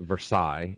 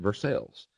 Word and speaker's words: Versailles: town called Versailles Kentucky Now everywhere else in the world they pronounce it Versailles and here in Kentucky they pronounce it versales so I actually live in versales Kentucky so I a huge